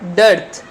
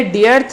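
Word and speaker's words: dearth: डर्थ। इसको ध्यान से सुनिए, ये डियर्थ नहीं है, डर्थ इसका प्रोनाउंसिएशन है, उच्चारण है।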